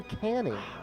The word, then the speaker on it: Canning: I thought it was Channing. Griffin at first. does it. It's actually Canning.